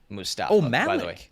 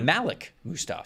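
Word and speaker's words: Mustapha: about the Seattle Seahawks I have been texted that it's Malik Musta way and I double checked in their pronunciation guide and that's how they have it there too so okay all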